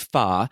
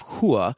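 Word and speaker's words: 花: mulan's family name is pha which is the cantonese pronunciation of hua which is the mandarin pronunciation both of which are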